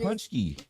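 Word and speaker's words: Pączki: how to pronounce it Punchy pansy yeah pansy pansky it sounds they pronounce it Punchy it's uh filled with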